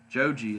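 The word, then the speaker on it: ジョージ: the name Joe Jean Joe G is actually a reference to how George is pronounced in japanese thought was pretty cool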